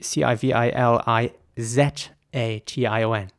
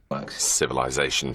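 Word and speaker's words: civilisation: So it would be C-I-V-I-L-I-Z-A-T-I-O-N. Now, in British English, it would be pronounced civilization. Civilization, schmivilization. And again, I want to emphasize the I in the middle this time. Civilization.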